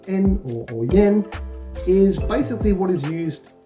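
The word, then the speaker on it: 円: on to number three this one here often pronounced en is basically what is used as a dollar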